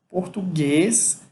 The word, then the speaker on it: português: Português é uma palavra oxítona, em que a sílaba mais forte é a última, português, e aí você só vai acrescentar o ES quando você for passar para o plural.